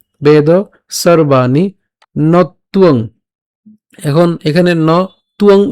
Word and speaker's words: নত্বং: একসাথে উচ্চারণ করলে নতুয়ং, নতুয়ং, ঠিক আছে।